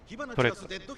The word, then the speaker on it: Toretto: Toretto in Italian.